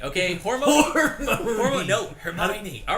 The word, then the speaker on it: Hermione: yearn the for books is to how to pronounce their freaking names. yes, definitely. Hormone, okay? Hormone. Hermione. No, Hermione.